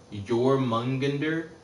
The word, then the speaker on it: Jormungandr: I didn't think the J was silent. I thought the J was pronounced like a Y. Like instead of saying Jor, you say Yor.